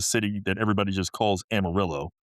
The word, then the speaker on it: Amarillo: outside of Texas have read the name and they're like, "Oh, Amarillo," and I'm like, "Well, it's Amarillo," and I'm like, I'm correcting them to say it wrong.